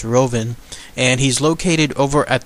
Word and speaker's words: Rouven: thick German accent, but how it's said in English, I believe it's Rouven, and he's located over at the Tropicana Hotel.